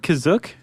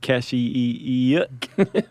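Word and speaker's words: Kashyyyk: or Wookie Planet C is that how you say it kazuk that's how it's pronounced in the episode the holiday special but it's also pronounced different ways other times I would have pronounced that cashier go spell it k-a-s-h-y-y-y-k yeah which I mean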